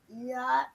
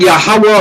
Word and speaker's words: YHWH: Right, but Ezekiel believes that YHWH is pronounced Yah. Of course. Not Yahweh or not Yahweh, but Yah.